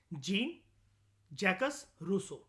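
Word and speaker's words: Jean-Jacques Rousseau: ठीक है, उसके बाद एरिस्टोटल से लेकर जीन जैकस रूसो तक, ठीक है, इसकी प्रोनाउंसिएशन होती है इस पर्सन की, जीन जैकस रूसो, Karl Marx, Mahatma Gandhi और डॉक्टर बी आर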